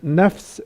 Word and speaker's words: nafs: Like the word nafs in Arabic is called nafsh in Hebrew. The letter ha in Arabic is pronounced in Hebrew as kha.